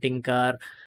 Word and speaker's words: tkinter: So actually, Python has a GUI tool that is tkinters. Some people pronounce it as Kinter, Tinker, tkinters.